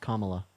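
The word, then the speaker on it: Kamala: just think I think Camila Harris is okay our name is pronounced comma yeah I think I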